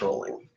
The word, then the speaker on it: Rowling: we're looking up JK Rowling excuse me it looks like Rowling but it's pronounced rolling so that's what we're